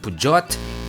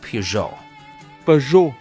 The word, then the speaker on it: Peugeot: of i ride manila bonjour in france we pronounce it so there it's not pujot it's not pujot it's not puja du chua or pyo gyat okay it's peugeot thank you like also if you are in